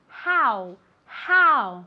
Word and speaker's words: how: Se escribe con una O, pero se pronuncia como si fuera una A y después una U. How, how, ¿vale?